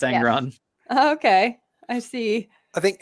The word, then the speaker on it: Angron: say his name is because I kept saying Ang I said angor or something like that what's his name is that angron yeah it's angron okay I see I